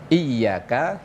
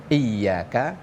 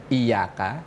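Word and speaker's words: إِيَّاكَ: Kalau dalam ilmu tajwid iyaka ya itu ditasydid dan bacaannya harus ditekan iyaka diterjemahkan hanya kepadamu ya Allah. Tapi kalau seandainya bacanya ini kok lurus tanpa tasdid iyaka tanpa tasdid. Kalau di Indonesia mungkin hanya Y-nya cuma satu. Heeh. tanpa tasdid itu artinya nanti akan berubah jauh bukan hanya kepadamu ya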